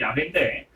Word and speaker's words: 야훼: 오늘 본문에서 하나님은 모세에게 자신을 여호와라고 말씀을 하셔요. 정확한 발음은 야훼인데 그들을 구원하셔야만 하는 문제의 제기와 구원의 근거와 구원의 목적에 대해서 오늘 본문에 다 담겨져 있습니다.